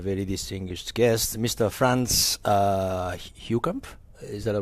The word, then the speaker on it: Heukamp: Franz Heukamp. Is that the right pronunciation? Yes. Okay, Heukamp.